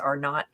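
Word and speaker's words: R0: So what is the, RO, I think it's pronounced R not, but what is the reproduction rate?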